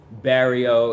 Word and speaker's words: barrio: Barrio. Barrio. Yeah, like Mario. Mario. Oh, like Mario.